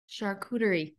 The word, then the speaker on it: charcuterie: The amount of variations I've heard, you know, of the pronunciation. Oh my gosh, I should take like recorded clips. Charcuterie. Charcuterie.